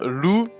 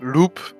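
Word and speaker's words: loup: Uh, so, uh, Lu uh, not Loop as I saw so many people in the discord write it like, uh, I saw Land or anyway even the people pronouncing it like Loop. Anyway, so Lu means wolf in French and we named it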